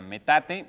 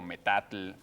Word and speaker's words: metate: Es eh la respuesta era metate o cualquier otra pronunciación que se le acercara, porque mucha gente llamó y dijo metatl y algunos con más